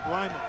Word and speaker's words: Lima: Is that the correct pronunciation, by the way? Lyman. It is Lyman. It was one of the. I saw you. It's a Lyman thing.